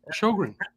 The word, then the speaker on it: Sjogren: The J is silent.